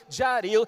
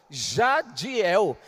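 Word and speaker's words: Jadhiel: Então você imagina os estrangeiros querendo pronunciar o meu nome, Jaril, até rádio me chamava, ô senhor rádio. Eu não sou rádio. Jadiel.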